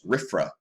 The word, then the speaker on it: RFRA: passes the Religious Freedom Restoration Act, or RFRA, pronounced RFRA, which does grant such groups a religious exemption.